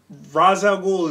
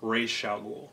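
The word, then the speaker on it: Ra's al Ghul: R ra raay i it's razaul is now acceptable I believe the proper pronunciation is R Shaul Raz you fight razal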